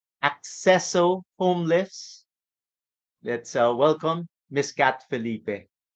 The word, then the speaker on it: Accesso: then clear my mind that it's accesso because it's access yes Cor you know